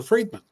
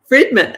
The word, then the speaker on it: Friedman: very happy to be here and it's Roger fredman fredman okay I didn't know on the pronunciation I should have asked that before we